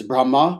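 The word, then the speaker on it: ब्रह्म: thing jyoti means light brahma is not brahma it's brahma with a short a meaning also brahman so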